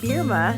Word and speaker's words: Bierma: are now young adults uh please welcome berma is that did I say it correctly you